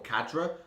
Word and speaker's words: cadre: much more cardio oh i say carter it's spelt c-a-d-r-e like cadre or cadra i say cardro because i'm just a ponzi nerd sometimes right i'm gonna